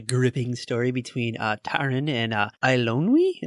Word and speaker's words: Eilonwy: Oh, you weren't moved by the gripping story between Taran and Eilonwy, I think is how you say it. Eilonwy?